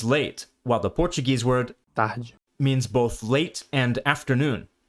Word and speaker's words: tard: Notice the pronunciation of this French word again. Tard. Compare that to the Portuguese word again. Tarde. Something that sets French apart from other major Romance languages, including Portuguese, is its abundance of silent letters at the end of words.